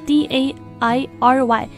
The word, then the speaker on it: dairy: 刚刚说了 D-A-I-R-Y 牛奶的或者奶制的